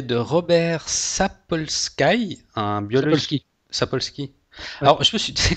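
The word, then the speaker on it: Sapolsky: comme Sky le ciel donc ça devrait se prononcer ça mais non ben voilà donc Robert sapolski donc c'est tu tu t'en as déjà entendu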